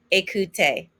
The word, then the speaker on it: écouter: And remember that ER ending is an A sound. Again, it's regarder, parler, écouter.